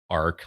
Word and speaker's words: Arche: We pronounce it as Ark, like the Ark of the Covenant, just to make it convenient.